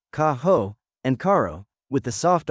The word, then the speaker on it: caro: Kaho and caro with the soft R.